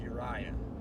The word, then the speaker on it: Uriah: this morning did you ride Alabama it's actually pronounced Uriah u-r-i-a-h-u-r-i-a-h Alabama's below Monroeville over here little Jean